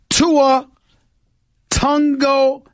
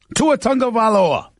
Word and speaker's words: Tua Tagovailoa: Tua Tagovailoa. That is how you pronounce Tagovailoa's name. Tua Tagovailoa. That's how he pronounces his name. Tagovailoa. That's how you pronounce his name.